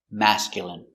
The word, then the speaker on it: masculine: Pronunciation: masculine. M. Amass. C-mask. Y mask. Y. Mascul mascul mascul mascul mascul masculine masculine masculine stress on the first syllable.